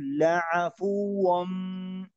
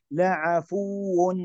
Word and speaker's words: لعفو: لعفو غفور، لعفو غفور، لا نقول لعفو، هذا خطأ. أو نقول لعفو، هذا خطأ مباشرة. لعفو غفور، هذا نأتي بالنبر على الواو لأنه مشدد.